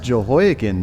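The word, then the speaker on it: Jehoiachin: verse 30 where it says a king provided Joe hekin I hope that's the way you pronounce that uh it's pronounced jehoi again dude a daily portion for the rest of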